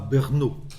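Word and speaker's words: Brno: avant lui boumil Rabal il était né à bernaau je crois qu'on prononce comme ça B RNO près de 94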